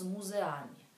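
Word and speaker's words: muzeami: Идем с музеами. А по-русски с музеями. Ну, почти одно и то же, но немножко там произношение другое, да?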